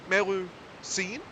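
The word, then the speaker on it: Melusine: Thank you, Melu Scene? Is that how you pronounce that?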